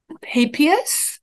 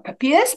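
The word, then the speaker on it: Papias: people like um bishop papius or pepias people have different pronunciations saying that he preferred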